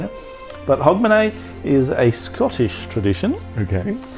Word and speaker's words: Hogmanay: Hogmanay. Sorry? I know, it's pronounced different to the way it looks written down.